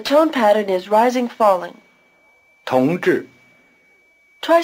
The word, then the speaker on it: 同志: 同志， The first syllable is relatively easy, but try to give an extra explosiveness to the T as you repeat it. 同 The second syllable, 志, rhymes with 是. The tongue is curled back for the J sound and stays curled back through the long R sound.